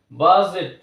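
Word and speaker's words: budget: প্রোনাউন্সিয়েশনে আমরা নিয়ে আসছি বাট ডি এখানে উচ্চারিত হচ্ছে না D silent বাজেট ব্রিজ বি আর আই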